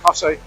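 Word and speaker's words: Costessey: Cossey is Costasy, as it's name, spelling, but it's pronounced Cossey.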